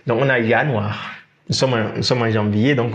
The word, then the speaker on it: Januar: On a la lettre J qui se prononce Y en allemand. Donc, on a Januar.